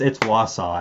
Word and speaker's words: Wausau: It's Wausau, actually.